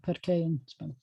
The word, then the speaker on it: parque: similar that's cool it looks like pork but it's not it's like parque some of these definitely